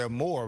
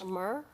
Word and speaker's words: Amur: I was about to say amor, but that's Spanish. Amur?